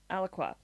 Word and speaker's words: Alaqua: Uh, Alaqua.